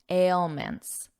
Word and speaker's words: ailments: Don't get confused by this beginning. Don't look at the word, just listen to my voice. Ale. Ail ailments, ailments and an ailment is